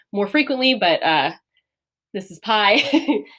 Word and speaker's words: pi: been more of P, because the iota doesn't make the I sound in Greek. Now this, again, if you're familiar, or eventually in math, you will see pi more frequently, but this is pi.